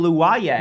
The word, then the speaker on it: Luwoye: Remind me how to pronounce this last name. Michael Luwaye.